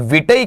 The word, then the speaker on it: vitae: विटई कर देते हैं, विटई ऐसा, ये इनकरेक्ट अप्रोच है, बिल्कुल अशुद्ध उपागम माना जाता है आपका। इसका जो शुद्ध रहेगा वो ट के बाद में ध्वनि रहेगी आई की, मतलब विटाई। क्या उच्चारण रहेगा इसका, विटाई रहेगा। और यहां जब आप बात कर रहे हैं तो ये किसकी है, आपकी विटे की, ये बिल्कुल ही गलत होता है।